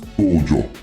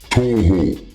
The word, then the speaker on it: Toho: Uh the name is really toho. I am going to spell it out for you. T O H O like you know ho ho ho ho and toe to toe to toe.